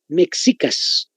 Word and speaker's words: Mexicas: Allá los aztecas, anótense, se llamaban la cultura mexica, con X, igualito que se escribe en México. Mexicas, pero se pronuncia mexicas.